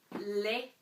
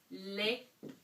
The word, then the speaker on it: les: And you don't pronounce the S, but ES is going to give you an E sound, unless it's on the end of a verb. So, le. Okay? So, j'aime les chiens.